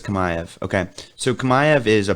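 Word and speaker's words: Chimaev: but kamayev okay yeah it looks like chimayev yeah but it's kamaev okay so kamayev is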